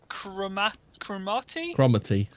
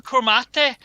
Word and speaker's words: Cromarty: The strange creature of Cromarty? Oh, you're from the area. It's however you pronounce it.